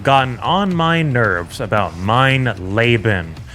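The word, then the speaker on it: Mein Leben: on my nerves about mine laben which apparently is the correct pronunciation as you have all made me painfully aware of in the comment section since release so for the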